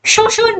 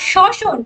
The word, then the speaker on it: শ্বসন: করে ভালোই করেছি শোষণ অনেকে শসনকে কিন্তু শোষণ বলে। শোষণ কিন্তু না। ঠিক আছে? শোষণ মানে এবজর্পশন। ওটা কিন্তু আলাদা জিনিস। কোন জিনিসকে শোষণ করে নি। আর শ্বসন শ্বসন মানে রেসপিরেশন। দুটো কিন্তু আলাদা উচ্চারণ।